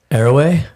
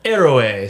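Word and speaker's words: Héroe: Erway. Eray. So the H is silent.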